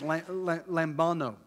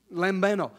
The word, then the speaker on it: lambano: It's lambano, L-A-M-B-A-N-O. And I try to pronounce that Hispanic-like, and it's Greek, so I don't know. I've just crucified it.